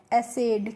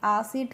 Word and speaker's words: acid: ऐसे ही ACID तो इसको हम पढ़ते हैं एसिड। क्या पढ़ेंगे, ए करके, ठीक है, तो इसको एसिड पढ़ेंगे, आसिड करके नहीं पढ़ते हैं।